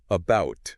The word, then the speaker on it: about: it's really not okay the schah which is represented by this symbol it's like that neutral almost lazy vowel sound that we use in unstressed syllables okay and the guide gives the example of the word about we don't say AA you know with a strong emphasis on bout right right it's about you're right oh wow